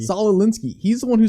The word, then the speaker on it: Saul Alinsky: Saul Alinsky. Saul Alinsky.